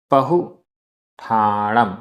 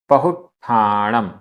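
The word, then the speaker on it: पहुट्ठाणं: पहुठाणम, आधा ट ठ, पहुठाणम, पहुठाणम।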